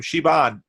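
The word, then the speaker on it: Siobhan: But I said, how do you say your name? Shiobhan. It's kind of like Yvonne, but with.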